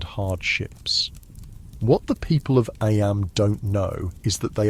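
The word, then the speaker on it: Eyam: It's now the summer of 1665, and we find ourselves in Aam, a small village nestled in the picturesque hills of Darbasher, England. Aam, you know, is pronounced just like em.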